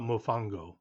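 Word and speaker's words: mofongo: What do you think about mofango? I think that's how you pronounce it. Is that correct? Mofango. You're absolutely right.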